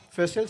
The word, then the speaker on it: Foessel: nuestros estudios fel fel es tu apellido lo pronuncié bien Sí sí sí sel fel Sí podrías contarnos